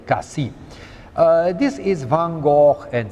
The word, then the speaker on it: Cassis: This lovely spot is called Cassis, and they pronounce the S. Officially, they should not. It is really Cassis.